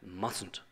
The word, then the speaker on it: mustn't: we've just seen and mustn't please be careful with the pronunciation it's mustn't so the first T in here is not pronounced may I go to